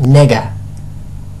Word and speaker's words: Nega: let's see, Reminiscence by Nega, otherwise pronounced Nega. No, not the other word, Nega, as in Negaverse.